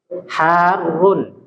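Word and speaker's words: حارٌّ: Harun Ya alabanu Harun cara membacanya ini Perhatikan ya harrun jadi ditasdhnya Harun susu itu panas ya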